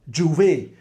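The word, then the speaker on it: J'ouvert: The opening of Carnival, Juve. If you look at how Juve is spelled, ouvert, which is open in French.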